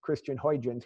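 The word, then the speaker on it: Christiaan Huygens: to try this was christian is actually how that's pronounced christian hoijins we say it um he used the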